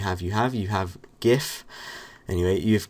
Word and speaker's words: GIF: you have you have gif and you've gif and that stands for graphics interchange format people prance it gif or gif I finger meant to pronounce a jiff but I've never call